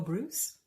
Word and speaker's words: Breus: And this one is the book called The Power of When by Dr. Michael Bruce. And his name is spelled Breus.